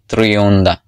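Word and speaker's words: Trionda: অ্যান্ড এই world কাপের যে বল, সেই বলের অফিসিয়াল নাম ট্রিওন্ডা। In Spanish it প্রোনাউন্সেস like ট্রিওন্ডা।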